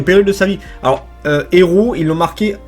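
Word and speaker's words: héraut: héros il l'ont marqué h e r a u t parce que c'est le nom du mec et du coup ça fait héros tu voi mais ça sort la prononciation mais ça s'écrit pas pareil à la fin de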